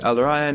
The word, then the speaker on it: Al Rayyan: Head of International Hospitality Department at Al Rayyan. Am I pronouncing it correctly? Yes, Al Rayyan International University College.